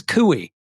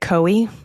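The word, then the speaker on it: Coie: She says it rhymes with gooey, which I love that cuz I always get stuck on that name. So, it's Perkins Kooey, right? Perkins Koi.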